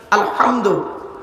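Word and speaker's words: الحمد: আলহামদু, এ গলার ভেতর থেকে হে এটা উচ্চারণ করবেন, আলহামদু।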